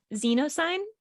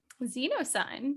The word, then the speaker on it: Zenosyne: I think it's pronounced Zenosyne. Zenosyne.